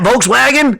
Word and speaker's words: Volkswagen: that don't speak German the V and W make the same sound I don't know why they have the same letter or they have two different letters because like Volkswagen is that's how you say it it's not Volkswagen like we say like y'all want to get in that Volkswagen it's Volkswagen oh my God was great